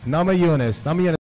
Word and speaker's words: Namajunas: Namajunas. Yeah, you pronounced it right.